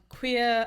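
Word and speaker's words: cuir: double check and then you have queer again which is c-u-i-r and there's a glq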